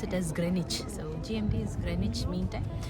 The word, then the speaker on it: Greenwich: Grenich meantime so we all call it as green wi but it is the British they pronounce it as Grenich so GMT is grenage meantime and what you